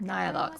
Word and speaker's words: Nihilux: I'm Nihilux, and I work Nihilux, that's how you pronounce it, okay.